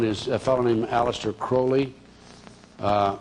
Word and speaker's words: Crowley: And the person I'm going to concentrate on is a fellow named Alistister Crowley. Uh he liked to be called Holy or Crowley because it rhyme with holy, but his real name is Alistister Cwley.